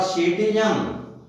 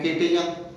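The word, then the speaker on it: citizen: इसी प्रकार सिटीजन, इसमें सी के बाद आई आया तो सी स उच्चारण हुआ, न कि कै। सिटीजन बोलेंगे न कि किटीजन।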